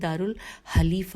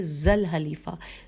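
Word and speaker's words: ذو الحليفة: لیے دارالحلیفہ لکھا ہے، یہاں پہ دارالحلیفہ خے نہیں ہے، نقطہ نہیں نظر آ رہا مجھے، دارال نہیں ہے، سوری، میں دوبارہ پڑھتی ہوں، ہجے بھی کرتی ہوں۔ اور اہل مدینہ کے لیے ذل حلیفہ، زال الف لام ہے لام یہ فے ہے، ذل حلیفہ مقرر فرمایا، اور یہی مسجد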